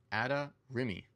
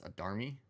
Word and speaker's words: Adarimi: It is pronounced Adarimi. A lot of people like to pronounce her as Adarmi. It is not that.